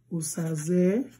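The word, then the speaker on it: Osazẹ: Osazoa, as in Osazoa, Osaze, Osaze has diacritic at the bottom of the E, but no diacritic in the O, because you pronounce it as O, Osaze.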